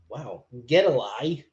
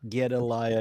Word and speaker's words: Gedaliah: It's not Gedaliah, it's Gedali. Gedali.